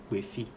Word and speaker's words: Gbefi: Gbefi is a town in the Volta region, so GB, Gbefi.